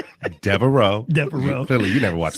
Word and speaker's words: Devereaux: How you pronounce it? Devereaux. Devereaux.